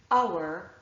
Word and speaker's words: hour: So the list that I showed you before, honor, our, honest, and air, are actually the 4 words that I can think of and their derivatives where there's an H but it is not pronounced.